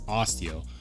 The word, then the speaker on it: Osteo: between the big Osteo big Osteo that's how it's pronounced it's Osteo or the off-grid Viper 2